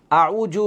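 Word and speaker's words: أعوذ: জাল পেশ জু না, আমরা অনেক সময় এভাবে পড়ি যে আউযু, আউযু বিল্লাহি মিনাশ শাইতানির রাজিম। আউযু হবে না, আউযু। জালের উচ্চারণ খেয়াল করেন।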